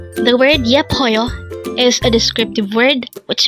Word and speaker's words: 예뻐요: YEPPEOYO. Again, it's YEPPEOYO. This is pronounced as a three-syllable word.